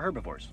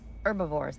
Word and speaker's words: herbivores: Well, they were herbivores. Herbivores. The H is silent.